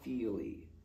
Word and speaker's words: Feeley: to recommend highly recommend john feely that's spelled f e e l e y and uh his